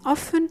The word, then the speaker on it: often: In soften and often, T is silent after the labiodental F.